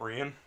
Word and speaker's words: Rian: about three years now I'll be calling her Ian Johnson yes I'm cryin like a idiot pronounce his own name right there's a that